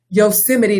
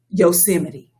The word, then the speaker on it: Yosemite: And it is just, the latest is moments earlier, the president was at some event and he mispronounced Yosemite National Park as Yosemite.